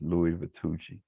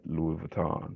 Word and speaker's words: Louis Vuitton: And that's the right pronunciation for the company. It's Louis Vuitton. It's not Louis Vuitton. It's Louis Vuitton, the company.